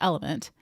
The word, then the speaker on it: LMNT: businesses: Alchemize, Elite Sports, LMNT. Oh, well, that's not even how you say it. It's Element. LMNT, I just read it out.